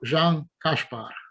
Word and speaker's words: Jan Kaspar: prazer de ter o Jan Kaspar. This is how you pronounce, right? With sh. Yeah, this is correct, but then the first name is Jan.